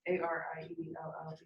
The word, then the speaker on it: Ariel: So Ariel, Oh, Yeah. is it one L or two L's? it's 2 L's. ARIELLE.